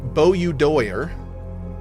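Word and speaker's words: Boudoir: We'll do the uh Bo doer. That's how you say it.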